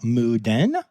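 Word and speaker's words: Moo Deng: I'm talking, of course, about Muden, which is spelled Mudang, and a lot of people say wrong, and Pesto the penguin.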